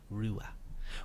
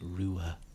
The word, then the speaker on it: Ruadh: Yeah, the DH is silent. Exactly, Daya. Rua. Well, I guess you could kind of go like Rua, like try and pronounce the H a little bit, but you don't have to.